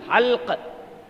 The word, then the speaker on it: حلق: جب یہ حلق میں آ کر پھنس جاتی، حلق ہے وہ، حلق، حلق نہیں، حلق.